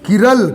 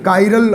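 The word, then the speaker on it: chiral: अगर किसी मॉलिक्यूल में किरल काइरल आप बोल सकते हैं, काइरल या किरल, प्रोनाउंसिएशन आपके और मेरे अलग अलग हो सकते हैं।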